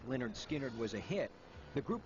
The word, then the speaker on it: Lynyrd Skynyrd: released its first album in november 1973 although pronounced leonard skynyrd was a hit the group wasn't taken seriously